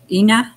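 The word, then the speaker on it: iiná: Ina. Ina, thank you.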